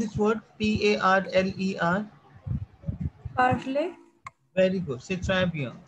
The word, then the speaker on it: parler: uh, Tanya, how to pronounce this word Parler? Parley.